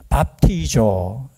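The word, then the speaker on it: βαπτίζω: 좀 발음 이상하죠? 뭐라고요? 밥도조가 아니고 밥티조.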